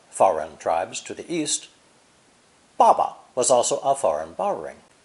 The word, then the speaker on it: 爸: Pronounced fourth tone, 爸爸.